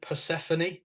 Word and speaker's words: Persephone: one is and I don't know if I'll pronounce this right is it Persephone yes yeah um yeah just tell us about